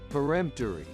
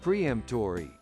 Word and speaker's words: peremptory: may not be true peremptory peremptory which means leaving no opportunity for refusal is often confused with the word preempt that means to prevent and many people pronounce it as preemptory which is wrong espresso again often